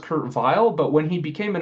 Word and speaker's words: Weill: it should be pronounced Kurt Weill, but when he became an American citizen, he decided he wanted his name to reflect his new identity. So he asked to be pronounced with a W.